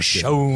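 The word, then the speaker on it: Chone: Oh, yes, I'm Sean. I don't think it is. Was it but Sean? It's like Yeah. C-H-O-N. C-H-O-N-E. I think he pronounces it Sean.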